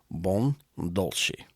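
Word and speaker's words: Buon Dolce: Okay, but the name of the shop is Bon Douli. It's b u o n d o l c e. Bon dolcei.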